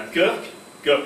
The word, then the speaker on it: Kirk: La Kirk of Scotland, Church se dit en Écosse Kirk, Church prononce Kirk en Écosse, donc la Kirk of